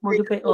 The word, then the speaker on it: Modupe: Modupe o.